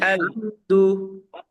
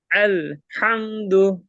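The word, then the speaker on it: الحمد: করে আল আলহামদু আলহামদু হামজাটা এখান থেকে হলকের শুরু থেকে আলহামদু এই যে এখান থেকে আমি এই যে মার্ক করতেছি দেখেন এই যে হামজার উচ্চারণটা এই যে এখান থেকে করতে হবে আলহামদু আলহামদু আলহামদু আল আলহামদু হ্যাঁ এই সাউন্ডটা রাখার চেষ্টা করবেন আলহামদু আলহামদু আল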